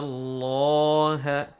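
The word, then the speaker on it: الله: So when we have to pronounce it heavily, if the word of Allah has fatha or dhamma before it, if the word of Allah has fatha or dhamma before it, or if we have to pronounce the word of Allah with the sign of fatha or dhamma, with the sound of a or u, in that case the word of Allah should be heavy, should be pronounced heavily.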